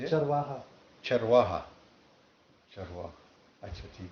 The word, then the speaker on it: चरवाहा: Charwaha.